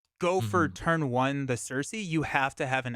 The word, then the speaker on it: Cersei: Nick Fury for somebody else right right um Cersei pronunciation is correct cool okay uh yeah that that's